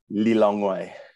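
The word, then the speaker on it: Lilongwe: capital of malawi is li longway how do you how do you say that lee long way long way long correct correct and you're 40 k's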